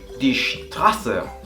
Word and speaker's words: Straße: Hace esta S un poquito die Straße.